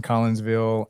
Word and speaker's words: Collinsville: Am I pronouncing that correctly? Yes. And it's Kimberly and Jared. Jared's the superintendent over in Collinsville, and Kimberly has been the Park and Rec